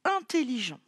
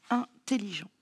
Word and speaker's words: intelligent: Mais dans intelligent, le phonème en s'écrit plutôt EN. Écrivons-le. Alors, intelligent. Un, IN, intelligent. Voici. C'est un adjectif. À la fin, on l'écrit ENT. Il y a une lettre muette.